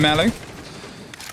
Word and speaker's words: Mellow: Obviously, Doom and Mellow. Pronounced like Nello, but for Mellow. So an M instead of an N, yeah?